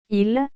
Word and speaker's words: ils: Nous, vous, il, elle. La prononciation des pronoms il ou elle ne change pas, l'ajout du s à la fin du pronom précise qu'il s'agit du pluriel.